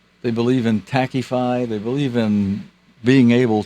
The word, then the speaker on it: Taqiyya: They believe in the, how do you pronounce that word? Taqiyya. They believe in Taqify.